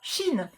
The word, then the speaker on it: Chine: Donc, vous aimez le rose, vous pourrez craquer pour la couleur Chine. Comme Charlie Sheen, ça s'écrit pareil.